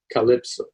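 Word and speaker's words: CLPSO: example the CL PSO weight one will be pronounced Calypso the proposed flight procedures are color purple for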